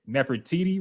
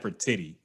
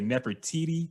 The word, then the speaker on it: Nefertitti: you say that okay never td right yes beautiful i try not to say that for titty i say never td correct okay never titi